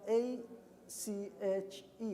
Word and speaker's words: ache: these these illnesses so notice that a CH e which is ache this is the way that we pronounce but this is the way we split AC HP ache this is the way we pronounce it to think benek back